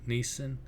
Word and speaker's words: Neeson: Neeson.